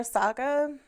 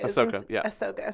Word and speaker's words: Ahsoka: I would like to see more Ahsoka. Or it's Ahsoka. Ahsoka, sorry. I always say her name wrong, and people always correct me, so I knew it was wrong the second that I said it.